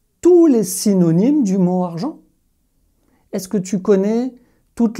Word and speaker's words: argent: Comment est-ce que tu vas prononcer ce mot? G-E, son je, argent.